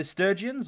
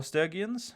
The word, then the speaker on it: Sturgians: We've got the Sturgians or Stergians uh depending on how you'd like to pronounce it.